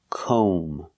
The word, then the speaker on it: comb: We have to use the long o sound like no and go. We pronounce this word comb. O. Make the long O sound. Comb. And remember the B is silent. Don't pronounce the B.